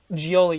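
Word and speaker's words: Gioeli: let me let me do my research John gioli yeah yeah yeah that's how you pronounce it okay yeah this is John gioli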